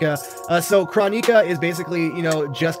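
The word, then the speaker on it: Kronika: to go down uh I keep calling her chronica Ed boom pronounces it chronik uh so chronik is basically you know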